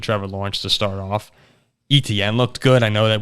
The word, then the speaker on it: Etienne: It's ETN. There's no ch in there.